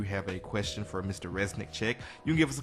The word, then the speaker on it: Reznicek: so I've actually got on my note card, Reznicek. Of course, I know how it is to mispronounce someone's name, so I like to at